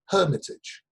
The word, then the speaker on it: Hermitage: avatar Sh it's the Hermitage I pronounce the H in chunk then exactly